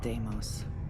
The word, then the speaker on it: Deimos: Stanley McMillan's computer in the Deimos Star Yard's corporate office. That's how you pronounce it. I've been saying it wrong this whole time. If it even fucking matters. Deimos.